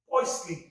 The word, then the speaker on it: Poiseuille: पॉइस पुल्ली, P-O-I-S-E-U-I-L-L-E, पॉइसली, P-O-I-S-E-U-I-L-L-E, पॉइसली। इसको पढ़ते spelling होती है पॉइसफुली, स्पेलिंग पॉइसफुली, लेकिन पढ़ते क्या है? पॉइसली।